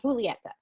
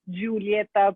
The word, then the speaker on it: Julieta: expect everyone to know that it's not a Julieta, but it's a Julieta.